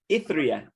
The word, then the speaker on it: Ithriyah: Now, you are also, and I won't be able to pronounce this last name, but you're the writer, director, producer at Roads of Ithriyah.